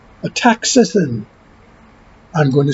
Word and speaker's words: astaxanthin: But the vitamin or mineral or supplement, however you want to frame it, is called ataxanthin. I'm going to spell it for you. ASTAXANTHIN. Ataxanthin.